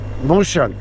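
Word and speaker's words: Mosjøen: Telaffuz edemiyorum şehirleri. Söyleyen var. Mojen. Mojen diye bir şehir.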